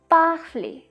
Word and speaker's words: parler: The first word for the EZ sound is parler, parler, A sound at the end.